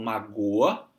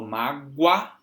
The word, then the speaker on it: mágoa: mas é claro que aqui eu pronuncio com som de U, né? Eu não falo magoa, magoa é outra palavra. Eu falo mágoa, guá.